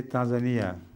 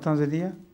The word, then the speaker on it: Tanzania: some people say Tanzania some say Tanzania which is the correct pronunciation it is Tanzania Tanzania yes not tanzia I think I have